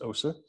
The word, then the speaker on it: Aase: butte national monument arvid aussie it's aase pronounced osa has uh developed a